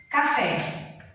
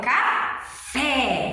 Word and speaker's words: café: A palavra café. Ok? Eu não falo café, eu falo café. Então, a gente já pronuncia o fé com mais força.